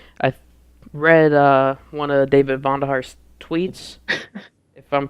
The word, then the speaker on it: Vonderhaar: I read one of David Vonderhaar's tweets, if I'm pronouncing his name right, I hope.